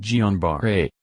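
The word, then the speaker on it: Guillain-Barré: cause polyneuropathy let's consider guillain-barre pronounced gianbar-a syndrome also known by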